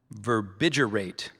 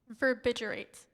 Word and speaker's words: verbigerate: The psychiatrist explained that some schizophrenic patients often verbigerate Verbbiterate.